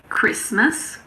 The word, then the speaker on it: Christmas: Some of the most common ones are asthma. There's a silent H in there as well. It's asthma. Christmas, mortgage, and soften.